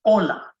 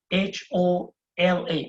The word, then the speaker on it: hola: have heard of hola, H-O-L-A. And remember, H is silent. That's why I'm saying hola.